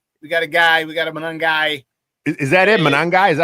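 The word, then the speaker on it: Monangai: Manangai? Is that how you pronounce it? I had no idea. Yeah. Manangai.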